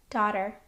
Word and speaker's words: daughter: There are some other words that have the same spelling pattern and also rhyme with caught. Taught. Taught. The teacher taught the students how to do algebra. Daughter.